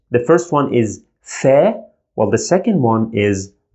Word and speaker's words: ف: we pronounce it as fair just normal f sound in english fair like in this